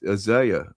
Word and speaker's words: Isaiah: Yes, he mispronounced Isa. Exactly. I What do you say? Uh, Isaiah.